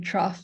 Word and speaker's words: trough: Paula yes and also just realize I've been mispronouncing trough as tro my whole life so thank you John